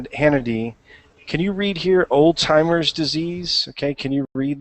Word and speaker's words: Alzheimer's: read this next one don't say Old Timer's disease okay um cannot say it sorry what it's okay don't say Oldtimer disease um Alzheimer's disease Alzheimer's Disease by the